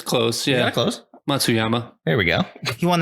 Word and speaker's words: Matsuyama: Hideki Matsuyama. I said it right. It's close. Yeah, close. Matsuyama.